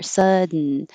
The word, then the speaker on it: sudden: is another sudden so over here sudden you put your tongue up for the D sud sudden you can say sudden and you can say consultant it's not wrong but most people are making it more short and taking a little shortcut consultant sudden and back here oh